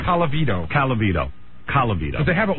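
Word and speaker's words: Colavito: Calavito.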